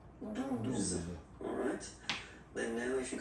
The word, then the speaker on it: douze: Okay, douze. O, U. The two together will give you the sound OO. Okay, and then Z. Douze.